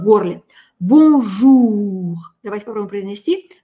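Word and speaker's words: bonjour: «Бонжур». Давайте попробуем произнести. Важно здесь звук «у». «Бонжур».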